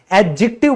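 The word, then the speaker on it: adjective: तो दोस्तों याद रखिएगा ये जो डी है ना ये हमारा साइलेंट होता है। तो कई जो मैंने टीचर देखे हैं वो कहते रहते हैं एडजेक्टिव पढ़ाएंगे, आज एडजेक्टिव करेंगे, ये बिल्कुल गलत प्रोनाउंसिएशन है। एडजेक्टिव बोला जाता है क्योंकि डी तो है ही नहीं यहां पे, वो बोला नहीं जाएगा, साइलेंट है।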